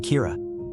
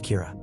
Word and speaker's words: Kira: about the person behind him and call him Kira, which is the Japanese pronunciation of the word killer.